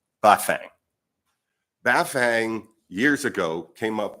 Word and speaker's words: Bafang: And the reason we're really here, the crux of the matter, is a two-syllable Chinese name, Bafang.